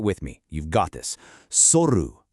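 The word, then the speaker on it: 剃る: in your daily routine, soru means to shave. Now, this requires a nice crisp pronunciation on that first syllable. Try it with me. You've got this. Soru.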